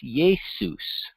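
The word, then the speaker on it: Iesus: It's transliterated into English with a I-E-S-U-S, Jesus. That J sounds like a Y, Jesus.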